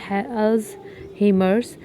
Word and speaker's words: Alzheimer's: अलजीमिया disease dementia की common cause है। Dementia क्या होता है? Loss of memory. अल्जीमिया is pronounced Al अल्स हेमर्स।